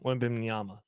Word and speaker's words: Wembanyama: Victor Wimbenyama. Wow, that was actually pretty solid. Wembanyama. Wembenyama. Yeah. I mean, if you sound it out phonetically, W-E-M, Ban, B-A-N, Yama.